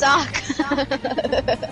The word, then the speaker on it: Sokka: It's not Sokka. It's Sokka.